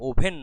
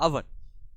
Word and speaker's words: oven: she had to go back to the kitchen for a moment because she had left something in the oven, উচ্চারণটা ওভেন নয়, উচ্চারণটা oven, দিয়ে ওনাকে বেশ ছুটে ঘরের ভেতর যেতে হলো, কেননা রান্নাঘরে কিছু ফেলে এসেছিল।